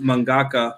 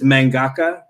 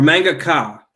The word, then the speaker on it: mangaka: the anime or apparently I pronounced mangaka horrifically it's mangaka or manga car right yeah oh man